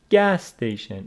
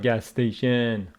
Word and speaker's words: gas station: on the first word stress of compound nouns falls on the first word so it is is gas station it is not gas station gas station stress on